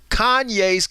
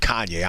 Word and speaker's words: Kanye: it is true, because Kanye's claimed that, I mispronounced his name. I said Kanye. I'm sorry. It's Kanye.